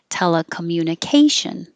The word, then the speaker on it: telecommunication: be higher and longer telecommunication keep your lips not rounded and that shin is like ocean which is spelled completely